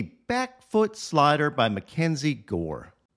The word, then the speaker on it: Gore: At number two, here is a nasty back foot slider by Mackenzie Gore. Gore kind of rhymes with sword, which is what he got here.